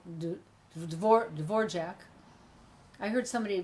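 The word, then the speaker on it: Dvořák: would he knows how to say things like Dvorak I heard somebody pronounce it incorrectly yesterday and I thought ah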